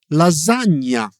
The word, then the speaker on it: lasagna: Another useful sound is the combination of GN, which is like we pronounce it nye. Okay. Where do you hear that? In which words? So, for example, in gnocchi or lasagna.